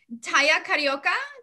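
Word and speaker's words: Tahia Carioca: the um description of the egyptian dancer i'm taya carioca did i pronounce it correctly yeah okay um and and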